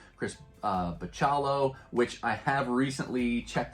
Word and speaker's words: Bachalo: like like Chris uh bachallo which I have recently checked online and bachalo is the correct way to pronounce his name I look up an